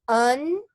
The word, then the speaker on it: untenable: to pronounce it no the next word is untenable untenable okay not unstable on 10-ball okay untenable and so if something